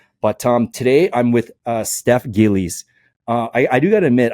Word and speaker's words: Gillies: You pronounce it Gillies, and I was like, oh, yes.